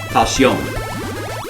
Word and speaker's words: Falsion: No, it's pronounced Falsion. If you're going to properly pronounce it the French way, it's Falsion. That's the proper way. That's the way the Japanese say it.